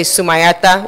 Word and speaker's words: Zumaeta: I say Zumaeta Group because most of you can't say Zumaeta, which is the way it's really supposed to be pronounced.